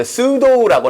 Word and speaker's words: pseudo: 여기 보면 이제 pseudo라고 나와 있는데, 피 묵음입니다.